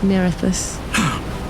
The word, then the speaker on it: Nerithus: Under the control of Nerithus, just in case you're wondering how to say the name. Nerithus.